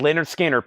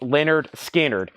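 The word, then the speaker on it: Lynyrd Skynyrd: Us Indianapolis reissue $25 start on that and Leonard skinnard pronounced Leonard skinnard ooh it's on the first label too I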